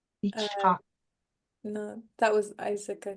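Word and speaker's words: יצחק: Yeah, that one's an interesting because we want to start it with an I, but here it started with that Y sound. Yitzhak. Yitzhak.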